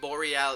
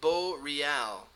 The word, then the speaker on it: Boreal: english speaking players in boreal esports i've been saying bo real and pixel says it's boreal boreal am i pronouncing